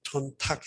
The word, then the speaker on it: 촌탁: 그래 도로 안 읽고 촌탁 해가지고 탁으로 읽는다는 거.